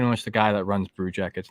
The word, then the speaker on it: Brew Jackets: I am part of the Hockey Podcast Network, and my podcast is called the Brew Jackets. BREW, as in, a brew, drinking brews with your bros, and it rhymes with Blue Jackets.